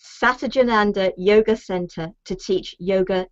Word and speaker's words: Satchidananda: Satchidananda. Satchidananda Yoga Center to teach Yoga Nidra.